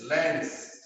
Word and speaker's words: Lenz: लेंस लॉ जब इसको pronounce करते हैं तो सुनाई देता है लेंस, एक्चुअली में ये है लेंस लॉ, LENZ apostrophe S, लेंस।